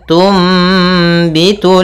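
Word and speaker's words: تُنْبِتُ: sukun bertemu dengan ba Apabila ada nun sukun bertemu dengan huruf ba ya maka kita namakan dengan iqlab yaitu cara membacanya adalah suara nunnya diganti dengan suara mim maka di sini ditandai dengan mim kecil Tum ya dimatikan sambil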